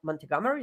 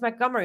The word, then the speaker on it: Montgomery: you just call it I'm like montegomery he's like she's like it's Montgomery I'm like damn what is all of that doing in there so that was the